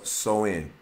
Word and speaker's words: Samhain: to the ancient celtic festival of samhain pronounced so in uh the celts who